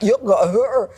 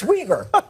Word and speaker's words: Uyghur: The way you pronounce it is not Uyghur, that it's Uyghur.